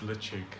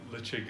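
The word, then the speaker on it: Ledaig: these two here but they're quite different from each other this one we can name it's called it's pronounced lichik lichig is the name they give to the pe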